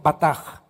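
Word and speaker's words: בטח: Esta palabra confiar es la palabra hebrea con B de burro, batach, se escribe y se pronuncia bataj.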